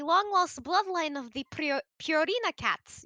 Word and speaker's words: Purina: lost bloodline of the purina cats you see prina that's technically how you pronounce it then won't you have